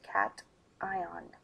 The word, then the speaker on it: cation: charged atom particle then we call it a cat ion yes it is pronounced cat ion so positively charged particle which lost electrons to